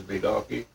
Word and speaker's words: Bigalki: to this German, and he said you're a big Galki. I said, yeah, that's usually the way we like to have it pronounced is Bigalki.